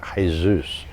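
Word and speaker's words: Jesús: their name is actually Jesus because the J is pronounced as an H so it's Jesus is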